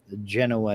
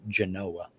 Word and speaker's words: Genoa: There's Genoa, Nevada, but down there they pronounce it Genoa.